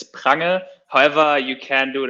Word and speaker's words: Prange: But the correct German pronunciation is Prange.